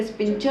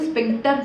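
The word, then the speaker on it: sphincter: Okay, अब कहीं कभी कभी आपको कोई प्रोनाउंस करेगा स्पिंचर मसल, कोई कहेगा स्पिंक्टर मसल। ठीक है, तो प्रोनाउंसिएशन में भी वेरी डिफरेंट थोड़ा हो सकता है, कहते हैं स्पिंक्टर मसल।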